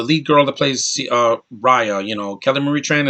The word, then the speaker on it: Raya: it and that is raya not reya because they say they saying it wrong raya and the last